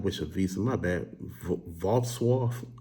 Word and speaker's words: Wrocław: Wrocław. I think it's Wrocław. It sounds like washcloth almost.